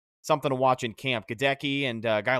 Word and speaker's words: Goedeke: interesting to see something to watch in camp godeki and a guy like aaron stinney going at it for that guard spot yeah so obviously um just just a note he says it's pronounced gedecky um i we me and james were calling